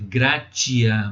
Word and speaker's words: gratia: A palavra graça, ela vem do latim gratia. Escreve gratia, mas pronuncia-se gratia.